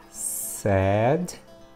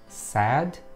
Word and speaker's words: said: It is said. Okay, not said, it's sad, the pronunciation.